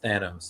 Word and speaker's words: Thanos: Someone's going to be like, it's Thanos.